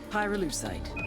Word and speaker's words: pyrolusite: him you know what py lucide is right yeah neither did I pyrolusite key syllable pyro by the way is